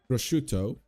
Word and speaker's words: prosciutto: Prosciutto.